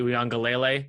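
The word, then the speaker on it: Uiagalelei: more than I trust Kirby I trust DJ uang gele that's the correct pronunciation you're welcome more than JT Daniels but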